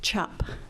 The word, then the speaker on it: Czap: through Ellis Island, and it was spelled CZAP, but pronounced chop, and it got changed to a U.